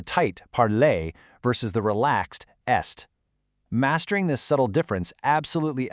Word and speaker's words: est: Listen to the word est meaning is. It's e. So we have the tight parlay versus the relaxed est.